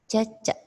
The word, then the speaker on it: cecek: Ya, ini dibacanya cece.